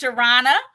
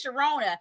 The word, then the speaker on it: Shirana: i love you timmy my name is pronounced shirana i'm sorry i feel like that's wrong growing up everyone says sharona so i'm so used